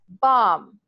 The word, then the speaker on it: bomb: you can associate because for example the word bomb when we read we see the letter B at the ends right but we don't hear it and we need to